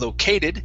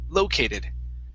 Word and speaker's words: located: next step is located the stress is at the very beginning instead of located it's located located located very nice okay very